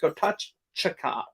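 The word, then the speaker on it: Gatotkaca: called Legend of, and I believe it's actually pronounced Gotachaka. Gotachaka. It's not Gotachaka like it looks. And it's anyway, it doesn't matter. That movie. Gotachaka. It's like Chaka, I believe. Chaka. Like I think it's pronounced CH, even though it's TK.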